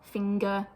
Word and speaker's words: finger: everything as an sound even though you should pronounce the G so for example in